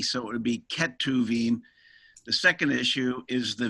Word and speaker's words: Ketuvim: The two spellings that I've come across regularly, Ketubim, yeah, or Ketuvim. And I guess that's a pronunciation issue? Yeah, it's just a pronunciation issue because our Western throats are unaccustomed to making the guttural sound that the CH does in the Hebrew language. So actually it's Ketuvim, but to our way